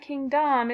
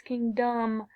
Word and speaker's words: kingdom: an G and then my second syllable Dom it's not king Dom it's king dumb so I put my